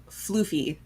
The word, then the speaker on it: Floofy: And to clarify, Gibson, his name is Floofy. So instead of Fluff, he is a floof. It's very FLOOFY.